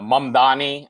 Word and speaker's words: Mamdani: Mumdani.